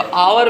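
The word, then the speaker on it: hour: अब देखिए एच लिखा हुआ है, लग रहा है कि कॉन्सोनेंट है, लेकिन वो साइलेंट है और इसकी शुरुआत जो होगी वावेल साउंड से होगी। तो आवर में आ है, तो इसे यहाँ क्या लगेगा?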